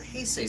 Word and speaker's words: Heisei: So I grew up with more of the Showa stuff, and I have this weird soft spot for Heisei stuff. Okay. Is that how you say it? Heisei?